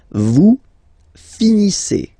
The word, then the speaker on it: finissez: Vous finissez. Vous finissez. Okay, EZ at the end gives you the sound E. Okay, finissez, finissez.